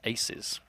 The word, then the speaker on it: 2z: even now we've been told to Z is pronounced aces oh is it so apparently it's aces versus